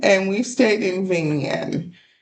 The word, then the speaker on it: Vinh Yên: If if we pronounce it wrong, it's right on the screen, but it is Vignen, and we stayed in Vignen.